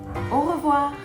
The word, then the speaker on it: au revoir: Au revoir. And sometimes you put the words together and you say it a little bit faster and it sounds like this. Au revoir.